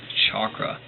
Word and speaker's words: chakra: right under it and that's pronounced of the CH as in church hence the English spelling chakra the word also has